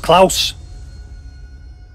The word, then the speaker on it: Klaus: All right, we're playing against Klaus. Rhymes with blouse.